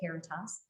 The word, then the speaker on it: Caritas: AmeriHealth Caritas, that's how you say it, Caritas, serves about 304,000 people across the state.